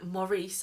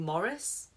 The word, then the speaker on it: Maurice: I've been saying Morris since I first read this in 2005. And it turns out it's Maurice, and I've been saying it wrong this whole time.